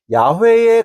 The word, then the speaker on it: 야훼: 발음이 아니라는 사실이 분명해졌고, 오늘날 학자들은 히브리어 자음 네 글자를 영어 알파벳 대문자로 YHWH라고 표기하며 발음은 야훼에 가까웠을 것으로만 조심스럽게 설명합니다.